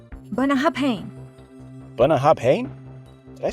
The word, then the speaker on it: Bunnahabhain: Professor, this distillery is pronounced, “Bunna-HAB-HANE.” “Bunna-HAB-HANE?” Did I say that right? You're close, but don't be afraid to really lean into those final syllables.